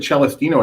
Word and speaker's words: Celestino: Now, I pronounced it Celestino at the start of the show, and you said that is actually the accurate Italian pronunciation, right, Mike?